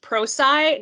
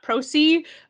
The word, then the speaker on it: Prosci: prosci um that's p-r-o-s-c-i it is pronounced procy not procee which i made a mistake on so i understand that